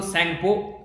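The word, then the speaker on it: Tsangpo: ये देख सकते हैं इसको सैंगपो, शॉर्ट फॉर्म में सैंगपो, टी साइलेंट है, यारलंग ज़ेंगपो, ये ब्रह्मपुत्रा है जिसको तिब्बत में बोलते हैं।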